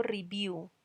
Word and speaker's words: review: Y miren que mi siguiente verbo termina como en una consonante, pero cuando yo leo ese verbo, yo digo review y esa consonante toma sonido de vocal. Review, U. Si se dan cuenta que termina en sonido de U, review.